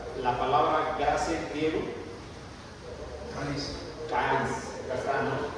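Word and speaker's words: χάρις: Caris. Caris, acá está, ¿no? Se escribe charis, pero la H no se pronuncia, es caris, ¿no?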